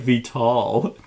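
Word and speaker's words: Vital Lacerda: aunt, and it's like Vital. Yeah, this is funny. But actually, he commented on my On Mars discussion. He says, tell Seth, Vital Lasarda is pronounced Vital.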